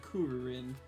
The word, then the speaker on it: Krillin: They call Krillin Krillin and not Kuririn.